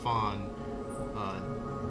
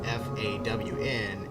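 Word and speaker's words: faun: So it's not fawn, F-A-W-N. It's fawn, F-A-U-N. It's actually Latin. So pronunciation's right, but not the spelling.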